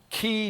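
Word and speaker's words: Keay: guy in San Francisco how do you pronounce this guy's name ke a y Kea y key Davidson and he started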